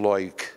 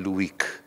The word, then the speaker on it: Loic: Há quem lhe chame Loic, eu prefiro chamar-lhe Luic. É uma questão de pronúncia, mas o da Silva